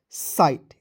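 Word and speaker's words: sight: के रूप में कीजिएगा और आई जीएसटी जब भी आपको किसी भी वर्ड के अंतिम में दिखेगा उसका उच्चारण आइट के रूप में कीजिएगा तो क्या हो जाएगा साइट एस आई जीी एसटी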